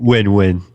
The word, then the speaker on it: Nguyen: And on today's podcast, we have the one, the only Nguyen. Am I pronouncing that right? Win. Win? It's a win, yeah, just like W-I-N.